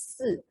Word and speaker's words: 四: So for example, Chinese avoid number 4 in naming instead of other numbers, as 4 pronounced as 四, which means death, 死 in Chinese word.